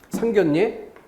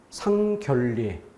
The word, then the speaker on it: 상견례: 상견례 상결례 서로 결례를 끼치나요? 이렇게 말이 이상해집니다.